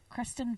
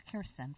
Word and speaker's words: Kirsten: I always confuse Kristen and Kirsten. Kristen Vangsness. Mm-hmm. I probably got it wrong because it's Kirsten, for fuck's sakes.